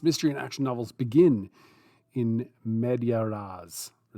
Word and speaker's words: in media res: The next one is in media res. In media res? Let me just see. I'm going to use a pronunciation guide here. In media res. In media res, according to the Latin.